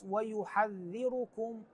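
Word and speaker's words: وَيُحَذِّرُكُمُ: الايه 30 قبلها عندنا كلمه ويحذركم هنان الراء مضمومه والكاف ايضا مضمومه ويحذركم الله نفسه وليس ويحذركم الراء بعضهم يقراها بالفتح الصحيح بالضم ايضا ننتبه الى كلمه فاتبعوني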